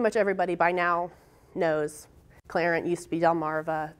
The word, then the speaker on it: Clarent: Clarent, I think pretty much everybody by now knows Clarent used to be Delmarva. It's capitalized and pronounced Clarent.